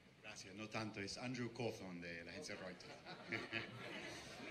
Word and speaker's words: Cawthorne: de Reuter, su apellido es un poco complicado de pronunciar, pero ahí está. Gracias, no tanto, es Andrew Cawthorne de la agencia Reuters.